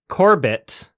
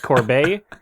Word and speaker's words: Corbet: Brady Corbett and I I feel like I am pronouncing that correctly because he's from Arizona and everybody else is pronouncing it Corb I don't think he's he's from Arizona I am so am I don't think he's French he doesn't look like